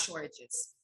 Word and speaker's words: Shortages: with the pronunciation but it's like storages but instead of the t there's an h shortage is basically what